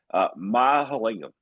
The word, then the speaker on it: Mahalingam: I'm going to pronounce this correctly. I did it once already. Mahalingam.